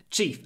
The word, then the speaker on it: chief: use as an adjective Chief and that's why in Russian you have the word it comes from this English word chief chief with a very short e e before the unvoiced F chief chief 143 important